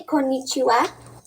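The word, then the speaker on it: こんにちは: the morning well afternoonish morning you probably say konnichiwa did i pronounce that right yes yes okay and then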